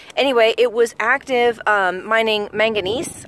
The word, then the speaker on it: manganese: anyway it was active mining manganese I think is how you say it not magnesium manganese anyway I'll put some